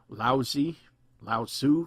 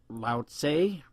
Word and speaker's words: Lao Tzu: was supposedly written by a sage, Lao Tzu, sometimes people say, Lao Tse. So I've heard a lot of different pronunciations.